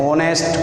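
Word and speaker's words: honest: ये चालू तो व्यंजन से है, लेकिन इसका उच्चारण होनेस्ट, ऑनेस्ट को अपन पढ़ते हैं तो इसका उच्चारण हिंदी के ओ के समान है।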